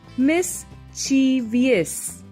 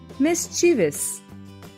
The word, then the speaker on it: mischievous: this word is most of the time wrongly pronounced as miss chivias rather it should be pronounced as mischievous another new word is bruschetta this is a